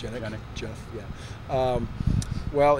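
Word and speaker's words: Genyk: Is it Gannick? Is that how it's pronounced? Gannick.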